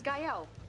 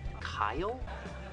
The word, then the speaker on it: Gael: This is Gael. Hola. Gael. Gael? Gael. Kyle? Gael. Girl? It's pronounced Gael.